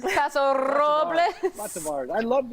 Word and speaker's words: Paso Robles: Isn't that how it's spelled? It says Paso, doesn't it?